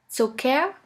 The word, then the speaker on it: Zucker: The first letter combination here is CK, which is simply pronounced like a K. Here we have the example of the word Zucker, which means sugar.